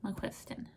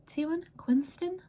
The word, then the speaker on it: McQuiston: So, The Pairing by Casey McQuiston. Her name is McQuiston, and I always thought it was McQuiston, like Q-U-I-S, Q-U-I-N-S-T-1, Quinston, McQuiston.